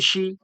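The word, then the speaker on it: شِ: এরপরে শিন দেখুন জের, শিন জের শি, শিন জের শি, শি শি।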